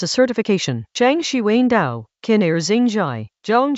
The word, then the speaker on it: Dao: The Dao, pronounced Dao as an owl, De Jing meaning roughly the book of the way and its virtue, opens with a taxonomy of response.